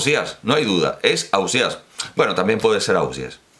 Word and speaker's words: Ausiàs: la conclusión de que debe ser a óseas o quizás 'aussies' o av si es bueno en realidad